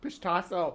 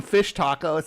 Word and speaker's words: Pishtaco: Pishtaco. I gotta start saying it right. I still want to call it. I don't call them fish tacos anymore.